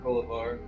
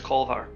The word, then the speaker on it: Kolvar: I look at Kolavar. My name is Kolvar. Kolavar. Keep adding a syllable.